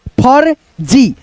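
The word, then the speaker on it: फर्जी: जैसे सपोज करो फ, उसके बाद से र बोल दो, फर जी, फर जी, फर जी।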